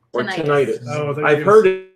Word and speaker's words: tinnitus: cases of erectile dysfunction tinnitus what tinnitus so that I've heard it it's supposed to be pronounced tinnitus you're going to say